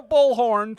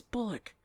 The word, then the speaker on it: Bullock: It's pronounced chemistry. Chemistry. This is fun. The nominees are Jason, Patrick, and Sandra Bullhorn from Speed 2 Cruise Controls. It's Bullock.